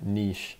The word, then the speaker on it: niche: that is that is very niche or niche I guess is the correct way to say it all right my first